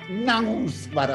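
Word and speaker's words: Knausgård: casi impronunciarlo, Karl Ove, con K, Nausbar, así por la nariz, Nausbar, es un noruego,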